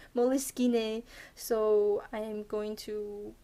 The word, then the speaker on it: Moleskine: comment and saying that it's actually an Italian word and it has nothing to do with moles or skins.